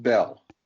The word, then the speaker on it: Bale: Is it Bale? How do you say his last name? It's actually pronounced Bell.